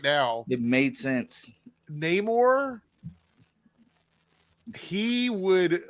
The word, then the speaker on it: Namor: They said it both ways in the movie, but the traditional pronunciation is explained in the movie as a language situation, with Amor being connected to no love, no Amor, Namor, which I thought was